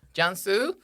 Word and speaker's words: Cansu: So the C is always pronounced like a J in Turkey.